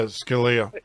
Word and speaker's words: Scalia: that how how you say his name yeah Scalia yeah yeah it is yeah so he he